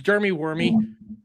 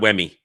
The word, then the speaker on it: Dermy Wormy: aren't familiar with me, my name's Dermy Wormy. I talk. The channel is the same name, Dermy Wormy, spelled the same way, all that stuff. Yeah, not Wemmy.